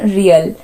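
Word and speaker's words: real: And friends, currency है ब्राज़ील की Brazilian रियल। तो friends, रियाल इट is pronounced as रियाल बट the spelling is रियल।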